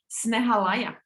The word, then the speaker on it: Snehalaya: He runs a nonprofit organization called, if I pronounce it correctly, Snehalaya.